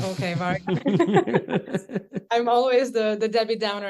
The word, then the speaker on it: VARYA: Am I pronouncing that correctly, by the way, VARYA? Or Yeah, you are. okay, yeah. Yes, VARYA. Yeah.